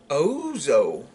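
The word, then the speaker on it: ouzo: Ozo. It's spelled O-U-Z-O.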